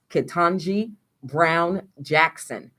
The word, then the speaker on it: Ketanji Brown Jackson: And now Biden has nominated, and I'm not sure of the correct pronunciation of her name, but I believe it's Ketanji Brown Jackson for the Supreme Court.